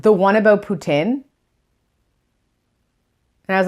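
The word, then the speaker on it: poutine: things Putin or puts in if you're French putain not good I don't say that that's bad Putin is how it is pronounced cheese with gravy cheese's gravy fries with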